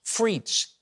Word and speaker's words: frites: fragrance think about this it's pronounced frites it's a perfume that smells like french fries you see the word frites is french for french fries now it was